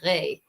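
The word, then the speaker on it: roi: speaker because at the in the 15th century the word for king wasn't pronounced wah it is pronounced re.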